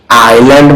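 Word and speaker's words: island: exercise অনুশীলন করা বা অনুশীলন সিটি মানে শহর আইল্যান্ড মানে ভালো কথা গত ক্লাস যারা করছো তাদের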